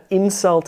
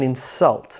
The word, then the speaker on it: insult: What about insult and insult?